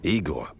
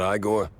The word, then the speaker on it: Igor: Igor, not Igor? No, Igor. Why so many R's? It's harder to pronounce, as the classics would say.